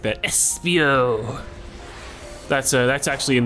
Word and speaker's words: Espio: really cool if you say it like that Espio that's uh that's actually in the pronunciation guide it's like INS What what if